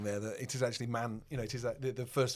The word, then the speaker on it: Mani-Fest: And I went, "Many?" Oh, okay. People think Manifest is Manny as in Manchester.